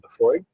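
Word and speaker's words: Laphroaig: But found out I was pronouncing this wrong. Boy, I felt so crazy. What? Leafroy. Yeah. Or Cardas.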